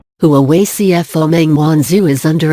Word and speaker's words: Huawei: Shenzhen-based Huawei, pronounced Huawei, is the world's second-largest seller of phones behind Samsung, according to IDC.